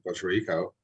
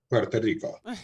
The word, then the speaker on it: Puerto Rico: It's funny that you mentioned Seattle, because actually my ex, who I brought up earlier, from Puerto Rico, and there I go saying it wrong again, Puerto Rico.